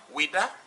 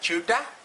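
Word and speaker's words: Ouidah: So when they wanted to pronounce Wida, French people say Wida, and Portuguese say Chuta, other people say Wida.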